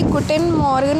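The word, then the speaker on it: Guten Morgen: तो उनके गुटन मॉर्गन बोलते हैं।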